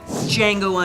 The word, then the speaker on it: Django: Number 3, Django Unchained. The D is silent.